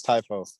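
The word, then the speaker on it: Tiafoe: Tua Tagovailoa and Francis Tyfo. There we go. And the way that I remember it is like his nickname of the Big Foe.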